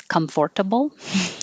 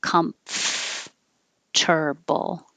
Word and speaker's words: comfortable: that it no longer sounds the way that it looks comfortable but we don't say it that way we make the mf combination comfortable comfortable one two three